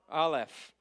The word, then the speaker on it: Aleph: Aleph. Aleph. Now, right off the bat, very confusing. Aleph has absolutely no sound to it. It is a silent letter.